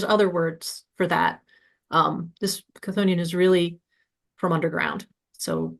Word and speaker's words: Chthonian: But almost everybody I know just says it Chthonian. Chthonian or even Chthonian are both fine.